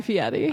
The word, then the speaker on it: Fieri: no guy fieri got his Hollywood star guy Fiat e I love that you say it correctly you're